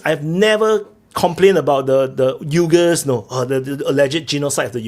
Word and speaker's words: Uyghur: Those are my people that are being killed, the Uyghurs, not the Uyghurs or whatever. Be careful. So they actually pronounce.